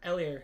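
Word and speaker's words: Edwards-Helaire: we go clyde edwards hilaire or ellier sorry the h is silent i've learned numbered 82 of 99.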